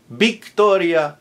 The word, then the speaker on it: Victoria: Victor, Victoria, Veronica. All with a B like boy, spelled with a V, but pronounced with a hard B as in boy because it's initial.